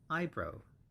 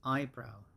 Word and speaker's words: eyebrow: so that's those little hair that grow on top of our eyes we call that eyebrow i bro and the pronunciation is the stress is always on the first syllable and it's i i